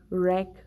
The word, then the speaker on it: wreck: W is not pronounced when it's at the beginning of the word or it is before R. See, right, rest, wrong, wreck, rap.